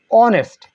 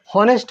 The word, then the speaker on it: honest: তারপর দেখেন অনেস্ট। এটাকে হনেস্ট বলা যাবে না। কি? হনেস্ট না, অনেস্ট। এইচের পরে ও আছে, এখানে এই উচ্চারণটা হবে ও।